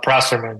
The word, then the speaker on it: Prosserman: a cultural thing it's all good all good prman so you did well awesome good okay so